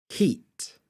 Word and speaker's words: heat: I actually said was heat heat however it's a bit tricky because in natural accent I kind of don't pronounce the T at the end of this word heat it's like little glottalized